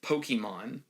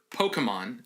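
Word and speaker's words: Pokémon: Everyone in this movie pronounces Pokemon like a boomer. Everyone says Pokemon. That's not what the word is. That's not how you say it. It's the correct pronunciation is Pokemon. Or Pokemon if you're in a hurry, or if you're from the southeastern United States. Nowhere is it Pokemon. That's not a word.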